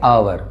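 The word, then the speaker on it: hour: एन आवर। यहां क्या है? पहला लेटर है एच। लेकिन साउंड है ओ का। एच साइलेंट है।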